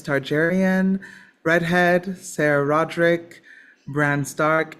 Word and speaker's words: Targaryen: And it's Targaryen. Targaryen, not Targaryen.